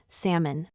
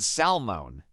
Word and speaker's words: salmon: another word often mispronounced salmon I always said salmone is that wrong yes the correct way is the L Sound is silent why is English full